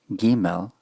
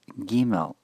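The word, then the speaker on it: גימל: The third letter, Gimel, is written G, and then I, and then there is an angular sign above the letter I. This, together with any other letter I in transliteration, is pronounced with the E sound. So this is Gimel, not Gimel. Gimel.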